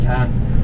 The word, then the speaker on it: Chang: nghiện món bia Thái thì tên của em đọc là Chang, Chang C H A N G.